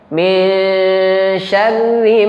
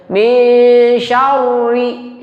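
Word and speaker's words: شَرِّ: Jadi cara bacanya syarri, ri-nya ini kita bacanya tarqiq tipis. Jadi enggak dibaca tebal ya. Bibirnya enggak usah dimajuin. Karena ada sebagian kita membacanya tafkhim dan tarqiq di waktu yang bersamaan. Jadi dibacanya min syarri, syarri. Nah, itu keliru. Mestinya min syarri. Bibirnya enggak perlu maju ya. Jadi tafkhim bibir maju, tarakik bibir nggak maju ya.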